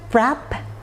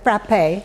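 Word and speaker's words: frappé: box below is it Frapp or is it frappe well some people would call it frappe which is the Greek frappe but others would simply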